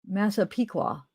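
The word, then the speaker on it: Massapequa: Oh, Masa Piqua. Masa Pika. Masa Piqua. You guys are You guys could hear those subtle differences. They're cute. I don't even need my headphones right now. Okay. Masa Piqua.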